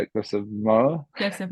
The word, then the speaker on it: Moher: Cliffs of I don't know how to say it, Cliffs of Moher. Cliffs of Moher, Nailed it.